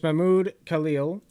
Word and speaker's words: Mahmoud Khalil: His name is Mahmoud Khalil.